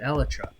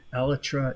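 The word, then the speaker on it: Elytra: pronunciation of the company pronounces it eletra so that's what i get according to adults only minecraft who researched it because he heard both pronunciations and wondered which one was correct now it could be the swedish accent thing but for i understand aletra is actually the proper way it could be either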